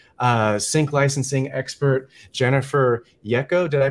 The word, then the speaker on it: Yeko: have pr manager uh sync licensing expert jennifer yecco did i pronounce that right yes you got it right